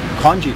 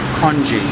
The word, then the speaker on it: congee: a soup with much with rice in it congee congee congee what's congee in english it's spelled c-o-n-g-e-e kanji oh well it's it's rice it's probably my